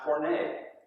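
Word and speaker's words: πόρνη: It's pronounced porne, part of that word grouping from which we get our word pornography.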